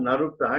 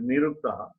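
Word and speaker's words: निरुक्ताः: It is not Naruktaha, it is Niruktaha. Drashtarya. It is not Naruktaha, it is Niruktaha.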